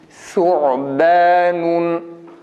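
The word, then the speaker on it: ثعبان: Yalnız burada bizim bölgedeki insanların düştüğü hata nasıl ki ötrelerde ü sesinin çıkarılması yanlış olduğu gibi o sesinin çıkarılması da yanlış. Hatta o sesi biraz daha kabadır. Mesela su'ban ya da yub'athun şeklinde tam o değil de buna yakın bir ses epey kaba geliyor. Yani buna dikkat etmek gerekir. Ü sesiyle çıkarılmaması gerektiği gibi o sesiyle dahi çıkarmıyoruz.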